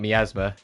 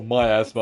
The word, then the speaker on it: miasma: We don't know enough about miasma. We still don't know enough about the myasma. Oh, myasma. I always pronounce it wrong.